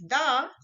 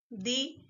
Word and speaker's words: the: One is the and one is the, right? The we use when noun starts with a consonant sound, and the we use when noun starts with a vowel sound.